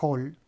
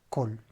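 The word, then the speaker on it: כל: O de, la palabra call, que acá cuando yo la junto a la preposición se pronuncia hol, ¿sí?, pero si yo tuviera la palabra sola sería col.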